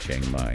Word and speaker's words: Chiang Mai: Yeah, looks like we're headed to Chiang Mai. Is that how you say it? Chiang Mai, yeah.